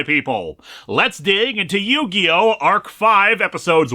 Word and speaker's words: Arc-V: And yes, I discovered by watching this that it's pronounced Ark 5 and not ArkV.